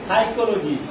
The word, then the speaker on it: Psychology: ও জি ওয়াই এটার নাম কি এটা কি সাইকোলজি সাই লজি সাইকোলজি মানে কি মনস্তত্ত্ব বা মনোবিদ্যা